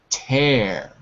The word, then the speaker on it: tear: number four class repeat tear tear te DP exactly remember tear rhymes with hair this man has no